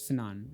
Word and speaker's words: Fanon: It's Fanon. I think that's how FD Signifier pronounces it.